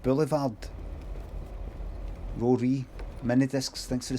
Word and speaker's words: boulevard: See, the French people pronounce the D of Boulevard.